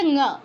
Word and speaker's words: ঙ: ওইটার উচ্চারণ হচ্ছে ঙ, ঙ। উমো নয়, উঙো নয়, ঙ।